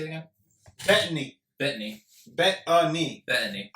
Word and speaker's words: Bettany: It's not Paul Bettany. How do you say it again? Bettany. Bettany. Bettany. Bettany. I bet you a knee. Yes. That's how you say it.